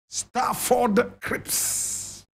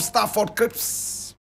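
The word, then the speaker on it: Stafford Cripps: photograph of uh of of staford CPS staford is spelled St w f o r d Crips a c r i p ps staford Crips now starford Crips was a British labor party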